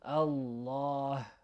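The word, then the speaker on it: الله: Okay, try to make this like heavy H sound at the end if you can. Allah, Allah.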